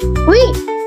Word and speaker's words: wi: And according to the words, in general pronunciation, this word is called with. But in Scottish pronunciation, this word becomes we.